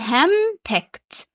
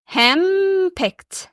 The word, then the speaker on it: henpecked: لما صوت الأن بيجي معاه صوت البي، الاتنين بيتغيروا خالص وبيقلبوا صوت أم، فأقول henpecked. طب والإي دي نطق إزاي؟ خدت بالك وسمعت؟ henpecked.